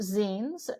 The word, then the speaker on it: zine: so um the it's usually it's you often pronounced Zen which is a term for um it's the